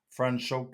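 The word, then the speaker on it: Franschhoek: Lucy know it's like brand show. Yeah, it doesn't um it isn't easy to say in English. Um so this one is a 2021 Franchoke seller pinatage.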